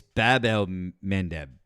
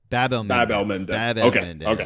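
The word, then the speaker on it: Bab-el-Mandeb: It's Bab el Mandeb. Bab el Mandeb is what it is. Yeah. Bab el Mandeb.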